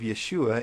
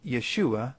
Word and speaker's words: Yeshua: The first sound of the second syllable of Yeshua is the sh sound.